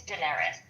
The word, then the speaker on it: Daenerys: Um I know, but I just like it's Daenerys. Oh, Daenerius. I added extra syllable.